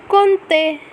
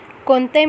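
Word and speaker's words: compter: has an interesting pronunciation we never pronounce m nor p the pronunciation is konte konte means to count the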